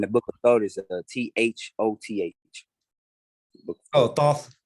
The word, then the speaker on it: Thoth: Yeah, and the Book of Thought is THOTH. Oh, Thoth, like THOTH. Oh, the Book of Thoth. Yeah. I heard you said the Book of Thought. You said the Book of Thoth.